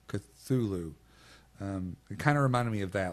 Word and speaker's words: Cthulhu: Cthulhu. Cthulhu.